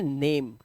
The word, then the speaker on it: name: ये जो ए है इसको वैसा ही प्रोनाउंस करो जैसा आप इसे पढ़ते हो। जैसे ए फॉर एप्पल, तो वैसे ही नेम, नाए, ने, ना पे